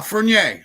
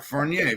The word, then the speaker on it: Furnier: Furnier is Am I pronouncing it correctly, Danny? Yeah, Furnier. Um he's a hockey player. You don't pronounce the second R. Furnier.